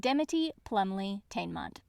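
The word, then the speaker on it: Dimity Plumleigh-Teignmott: She made friends with, in this audiobook pronounced correctly, Shiak Macan, Sophronia Temenick, and Dimity Plumley Tainmont, Pillover's older sister.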